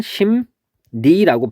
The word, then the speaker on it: 심리: 얘를 보면 심리라고 돼 있을 때 얘는 발음을 하면은 심니라고 발음이 됩니다.